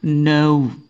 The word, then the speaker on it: know: yang tidak dibaca yaitu ee huruf k k di sini tidak dibaca jadi membacanya adalah no no bukan know mulai mulai saat ini ya jangan baca kata ini genow coba tirukan no no oke sip Inggrisnya sudah the